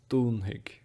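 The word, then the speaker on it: dúnfaidh: The F often confuses people. They're not sure how to pronounce it. The way that we pronounce this F usually is as a H.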